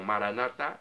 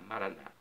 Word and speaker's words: Maranata: os evangélicos ou protestantes eles colocam a tônica na penúltima sílaba você sabia então os católicos falam maranat e os evangélicos costumam falar Maranata não importa pronúncia o significado é